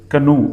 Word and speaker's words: canoe: This is canoe. The long oo sound.